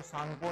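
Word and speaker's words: Tsangpo: फिर चाइना में चाइना के बाद कहां एंटर करती है आपके जो चाइना में तिब्बत में इसको सांगो नदी कहते हैं।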